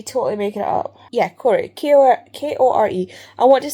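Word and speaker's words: Kore: is not Persephone, it's Corey. It's K-O-R-E. Corey, I'm not entirely sure how we're pronouncing it. There's been no phonetics, it's just K-O-R-E. I want to say Corey, because it's Greek. Corey.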